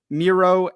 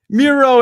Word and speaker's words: Miro: campaign one password segment Meo and I think I said it wrong that time didn't I I did okay Miro and more and um